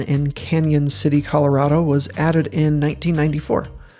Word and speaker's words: Cañon City: that never studied Spanish when you put a Tilda above an N it becomes an NE and is pronounced as if it were n y the Arkansas River flowing